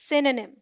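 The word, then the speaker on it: synonym: की रंग प्रनंसीएशन है सेन साउंड लाइक सन आज इन वन और इसे D stressed syllables D O sound इस ड्रॉप्ड और वही और साउंड लाइक नीम अजान हम सो डी राइट प्रनंसीएशन इस सायनोनिम लेट डू आईटी टुगेदर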